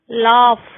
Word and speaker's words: laugh: GH is sometimes pronounced like F. Rough, laugh.